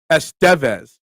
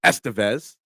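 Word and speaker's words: Estévez: The Peninsula vowel is accented in Spanish, Estevez. But other people say, like, Emilio Estevez, but Carlos says Carlos Estevez.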